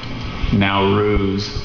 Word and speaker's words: Nowruz: the language ofion please it's from Persian now ruse are there any alternate